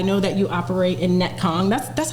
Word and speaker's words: Netcong: And I actually want to talk about that cuz, you know, I know that you operate in Netcong. That's That's how you pronounce it, right?